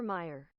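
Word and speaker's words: Mayer: where's translate Oscar Meer Oscar Meer yeah still pronounced Meer Oscar Meyer Oscar Meer Oscar Meer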